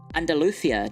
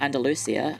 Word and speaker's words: Andalusia: found out today, there's Andalusia, not Andalusia, and also it's Alhambra, not Alhambra. I've been pronouncing it so whitely. Apparently it's... Andalusia is how you pronounce it.